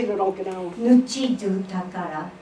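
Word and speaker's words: ぬちどぅ宝: Nuchidu takara. Say, repeat, call and response. Nuchidu takara. It's not Japanese language, it's Okinawan language. Let's do it slow 3 times. Nuchidu. Nuchidu. Takara.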